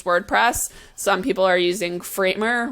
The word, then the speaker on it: Framer: some people are using framer which is a newer tool and also happens to rhyme with my last name Kramer um just pointing that out